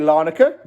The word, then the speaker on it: Larnaca: Where it finished, AEK Larnaca. Gatesy was actually right. That's how you do pronounce it.